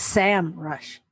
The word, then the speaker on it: Semrush: u s h okay I thought it was Sam rush but it's Sam Rush search engine marketing Rush